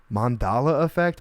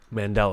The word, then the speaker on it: Mandela: to say this now mandala effect mandala effect what is it mandela man there we go yeah i wrote it